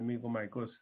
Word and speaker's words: mucormycosis: By the way, the R is silent, so it's pronounced as mucormycosis.